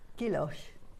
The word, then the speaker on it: gouache: Do you know how to pronounce that? Gouache.